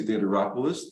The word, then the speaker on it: Theodoropoulos: are excited to be joined today by Chelsea theateropolis the owner of burn boot camp St Louis